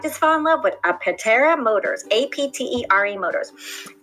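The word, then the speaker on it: Aptera: Tesla you might just fall in love with a petera Motors a pte re Motors okay so this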